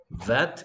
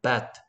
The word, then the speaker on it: bat: 자, vet 할때 지금 성모 발음이 vet 이렇게 하는 것 같아. vet가 아니고 입술을 붙였다 떼야지 b 소리 낼땐 bat.